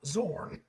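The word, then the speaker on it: Xorn: Okay, that's how it's pronounced. Zorn.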